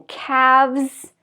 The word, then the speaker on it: calves: to make it plural you're going to add v-e-s as in calves and halves like two halves and again no L pronounced at all so these are common